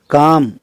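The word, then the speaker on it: calm: काम इसमें L silent रहता है। पाम इसी तरह से बाम, इन सब में एल के बाद एम है और एल जो है वो साइलेंट इसमें रहता है।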